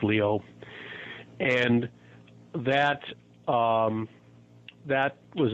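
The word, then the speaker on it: Lyot: but it's French so it's we pronounce it lot but it's actually Leo pronounced Leo and that um that was as big as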